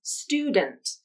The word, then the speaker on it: student: can pronounce this as student pronouncing the final syllable as dund with a released d a schwa vowel and a true t at the end but you can also